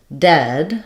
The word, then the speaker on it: dead: Yes, so when we're looking at the word dead, we're talking about the eh vowel, like in red.